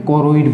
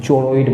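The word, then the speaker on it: choroid: बोला जाता है और इसको इंग्लिश में करेड बोलते हैं चोरॉइड मत पढ़िएगा भैया एक स्पेलिंग होता है इसका इसको कलर्ड पढ़ने हैं वैसे इंग्लिश में नाम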